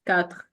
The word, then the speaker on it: quatre: The first pronunciation rule is the final consonants are often silent. So for example, this, then it's this. You don't hear the X, kind of. Quatre, it's quatre.